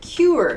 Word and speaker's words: cure: word cure cure here cure cure this is an interesting u sound that q q q it sounds like the letter q q but we pronounce